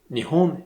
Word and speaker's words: Nihon: Le Japon est effectivement un des rares pays qui a deux manières de se désigner, à savoir donc Nihon et Nippon.